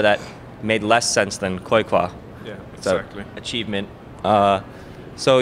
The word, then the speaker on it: Qojqva: Is that how you pronounce it? End the debate. Qojqva. Say it again. Qojqva.